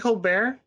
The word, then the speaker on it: Colbert: But the handle is just like Steven, because you know people pronounce my name Colbert sometimes. I don't care. I never correct people, but I pronounce it Colbert. So Colbert, so just like Steven.